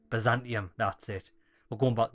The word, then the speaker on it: Byzantium: teen is that what you press a hyung pronounce it Byzantium Byzantium that's it well going back there to do